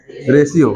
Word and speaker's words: ratio: क्या पढ़ना है? रेशियो, रेटियो नहीं पढ़ना है, ठीक है।